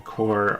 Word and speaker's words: corps: You know, it took me a while to realize that the P and the S in core are silent.